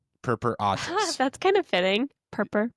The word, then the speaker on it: purpuratus: Purpuratus. Purpuratus.